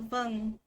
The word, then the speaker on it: vâng: That's when you say za or vâng, and that just means yes. So that's how you pronounce it, like that.